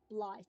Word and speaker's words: Blythe: Or Blith. I'm pronouncing it as um Blythe because I've met someone whose name is Blythe, and that's how they pronounce it.